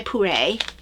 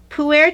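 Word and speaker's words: Pu'er: Chocolate chai puree. That's really Puer. good. I'm sorry. We learned how to Puer. pronounce this. Puer. Puer. So that's that.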